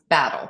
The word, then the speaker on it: BATDL: So we created what's called the battle list, and it's spelled BATDL, but pronounced battle, like you're going to battle.